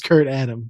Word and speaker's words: kurtadam: here let's see oh it's pronounced kurtadam not Kurt Adam could not